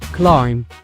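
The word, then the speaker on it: climb: الكلمه الرابعه اللي هي كلايم كلايم فيها بي في الاخر ولكن ماتيتنطقش وكتعني تسلق او يتسلق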